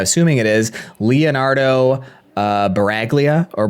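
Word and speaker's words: Sbaraglia: I'm assuming the S is silent in this. Uh, it starts with S. It's SB A R A G L I A. It wouldn't be Sporalia. Sporalia. That wouldn't make any sense.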